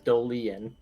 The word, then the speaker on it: Dolian: It's not even Dolan, it's Dolian.